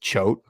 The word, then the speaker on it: Choate: my pronunciation here, but I believe it's Jeff Choate, right? It's just Choate. Yeah, Jeff Coates. Yeah, I think the H. I don't know. He might be right. I'm going to just say Choate.